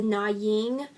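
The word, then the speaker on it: Nguyễn: see in Southeast Asia the noggin dynasty it spelled with an ng at the beginning that Finnegan they gained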